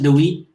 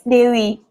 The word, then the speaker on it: Dewi: Thank you very much, Dewey. Did I pronounce it right? Dewey. Yeah, it's Dewi.